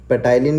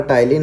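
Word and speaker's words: ptyalin: कई लोग इसको पेटाइलिन भी बोलते हैं लेकिन पी साइलेंट होता है तो इसको टाइलिन बोला जाता है, ठीक।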